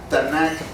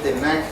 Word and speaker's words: Tanaj: Entonces vemos aquí, hermanos, la Biblia judía, son 24 libros, se le llama la Tanaj, se escribe Tenaj, pero se pronuncia Tanaj, Tanaj, así se pronuncia con J, Tanaj, aunque está escrito así, ¿verdad?